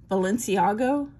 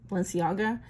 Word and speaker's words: Balenciaga: Bossier uh how do you say that word balenciago uh Balenciaga um so really high-end companies as I said